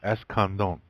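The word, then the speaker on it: Escandón: Accent on the last. Escandon.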